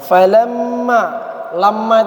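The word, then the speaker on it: لما: Kemudian lagi lamma itu dibaca apa? Lamma. Dibaca dengung apa enggak? Kenapa dia dengung? Nah, karena mim bertasdid.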